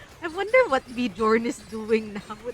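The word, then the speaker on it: Björn: kid this guy and your name Bjorn but all your life your family has pronounced your name as beorn and now that you're older and the internet is here people now know it's supposedly pronounced Bjorn but you grew up all your life having it mispronounced as born do you just like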